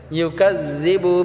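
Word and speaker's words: يُكَذِّبُ: ইউকাযযিবু বিদ্দিন, ইউকাযযিবু, এই কাযযিবুটা আমরা জালটাকে আমরা পাতলা করে উচ্চারণ করব।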